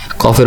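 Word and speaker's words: قاف: তাও আমরা কফকে চিনবো তার উপর 2 নক্তা দেখে, কফের উপর 2 নক্তা, এভাবে কফ। উচ্চারণ হবে কফ। গলায় হালকা প্রেসার পড়বে, কফ।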